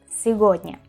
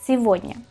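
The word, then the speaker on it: сегодня: Y no se dice cigoña.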